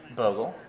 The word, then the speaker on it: Bogle: is is because I don't know how to pronounce it it looks like boggled see it looks like Bogle - but I say Bogle right yes right yeah exactly well there's one